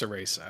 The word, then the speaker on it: Cereza: lost demon yep dude is this cereza or sarisa is it a cha or a sir it's pronounced in the game it's pronounced ceresa okay so this looks